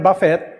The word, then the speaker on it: Buffett: lang akong dalawang example si Warren buffett ah buffet ha h buffet yun ang pronunciation ng kanyang ano pangalan ah may-ari ng berkshire